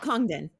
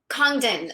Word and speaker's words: Congdon: it out the way the way you pronounce your surname oh kongden kongden it's two syllables there's like three consonants in a row in the middle it's believe me i